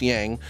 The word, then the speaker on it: Yaj: Uh, so it's yang, but in our language it's spelled yaj like a y a j and pretty much pronounced as ya yin and ya.